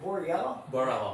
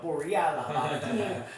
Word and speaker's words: Borrello: But my man Gene, is it Borrello? Borrello. Yes.